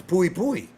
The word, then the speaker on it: Pui Pui: It's Pooie Pooy. In the manga they call him a Pocus, but that's wrong. It's pui pui and that's because but pocus is not entirely wrong. Uh pui pui is a pun on